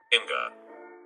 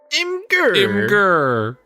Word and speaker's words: Imgur: Imgur.